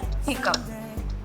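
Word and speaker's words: hiccough: thorough, it's O, hiccup, it's spelled in the last as P. That is, you are ending hiccup as P. You are closing your lips when you say hiccup. And that's when you have this pronunciation right.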